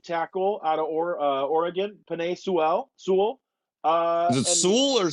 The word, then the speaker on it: Sewell: It's Sewell. That's what he always says in his press I conferences. I always screw up and say Sewell, which isn't That's right at all.